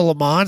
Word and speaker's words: Le Mans: So I found this is a Le Mans, it's not a GTO, which the GTO is just an option package of the Le Mans. So It's pronounced Lemo, but yeah.